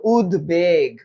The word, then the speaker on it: উদ্বেগ: ন অন্য এবার বলতো উদ্বেগ উদ্বেগ এটা কেন উদ্বেগ হইছে কারণ এটা সন্ধিবদ্ধ শব্দ সন্ধিবদ্ধ শব্দ সংস্কৃত শব্দ এই শব্দগুলাতে ব ফলা দত্ত হয় না বরঞ্চ ব ফলার ব এর উচ্চারণ বহাল থাকে তাই এটার উচ্চারণ হবে